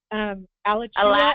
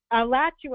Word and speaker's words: Alachua: Alachua, I think. Alachua, I knew I was not going to say that right.